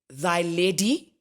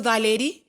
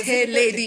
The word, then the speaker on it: Theledi: Mary's, they couldn't pronounce Theledi. Really? Oh, Ghana, yeah. So, so they'd say, thy lady. What? Yeah, that was the first time marking registration. Theledi.